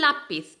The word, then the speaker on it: lápiz: sílaba tónica si el lápiz igual lápiz tenemos la sílaba tónica la en la sílaba fuerte entonces es la penúltima sílaba de la palabra y ahí tenemos entonces